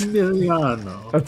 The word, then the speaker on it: Emiliano: You have to pronounce it like an Italian. That's Emiliano. that's kind of what I kept saying in my head.